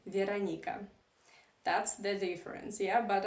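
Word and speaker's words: Вероника: culture you would say Veronica and in Russian language my name is pronounced veranica that's the difference yeah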